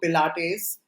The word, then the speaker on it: Pilates: then went on to Pilates I I hope I am pronouncing it right because I have nothing to do with Pilates you're saying it correctly okay okay so she